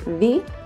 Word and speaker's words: vi: like a polite form is v sounds like v we is me sounds